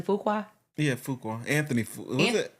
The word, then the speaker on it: Fuqua: So the director, Daniel, am I pronouncing his last name correctly? Fuqua? Yeah, Fuqua.